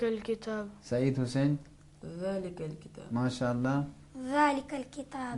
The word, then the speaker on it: ذلك: अब दूसरा हर्फ ज़ाल था। हर्फ ज़ाल में भी जब छोटा बच्चा बातें करता है तो तोतली ज़बान में नरम लहजे में बात करता है। इसी अंदाज में ہمیں حرف ذال کو تلفظ کرنا ہے.